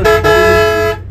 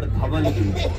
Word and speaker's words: Dhauligiri: After Konark, only 65 kilometers from Konarko, the heritage site World Peace Pagoda, Dhauligiri. Kindly remember Dhauligiri, not Dhavaligiri.